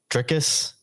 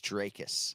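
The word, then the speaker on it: Dricus: why a lot of people get tripped up trickus you play cease is still knocks to please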